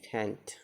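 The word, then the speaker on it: feint: एच जी एन न होते हुए भी इसका उच्चारण ए होता है। अब बाद में जैसे है, जैसे एफ ई आई एन टी, फेंट माने बनावटी आक्रमण।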